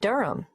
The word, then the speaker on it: Durham: at one uranga street durham how do you spell durham d-u-r-h-a-m of course i should know that but it's just one of those names that sounds quite different from the way you spell it it is confusing i've